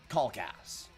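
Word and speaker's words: Kalkas: of of that uh pronounce my last name right it's spelled k a l k a s um I'm going to say kcast which honestly is a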